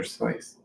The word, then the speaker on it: Seuss: You know, it's technically supposed to be pronounced Dr. Seuss.